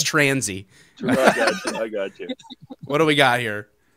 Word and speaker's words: Tansey: spelled my name wrong so if you see an r in my name there's no r there just say it without no it's transy what do we got